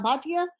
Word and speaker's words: Bhatia: in an embarrassing situation my last name is always mispronounced it's reena bhatia so thank you that's